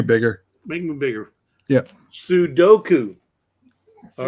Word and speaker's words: Sudoku: gonna go for it it says Sudoko no Sudoku Sudoku Sudoku Sudoku Sudoku Sudoku right let me let me make myself here I'll make you bigger make them bigger yeah Sudoku all right so this